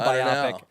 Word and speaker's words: biopic: I think it's a biopic.